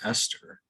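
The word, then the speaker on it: €STR: euro will use estr oh i guess that would be pronounced esther the swiss franc is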